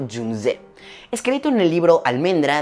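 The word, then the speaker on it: 윤재: Esta es la historia de Jung-hae, o como lo pronunciaré en coreano, Jung-jae.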